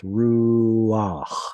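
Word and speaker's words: רוח: A patach at the end of the word with either a chet or an ayin or a hey, a consonantal hey, is going to have an ah sound preceding it because those letters are historically hard to pronounce. So it's ruach.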